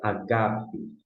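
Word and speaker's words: ἀγάπη: E no caso HP a palavra é Ágape e não paga em sua parte do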